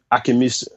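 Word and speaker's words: Akinmusire: You got people like Gretchen Parlato who's won it, Ambrose, Akimurase. I hope I pronounced his name right. I just did a gig with him. Akimusare. Akimusare, that's his name.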